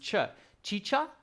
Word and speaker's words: chicha: Carolina is saying both should be pronounced chicha. Carolina, is that the right pronunciation? Chicha?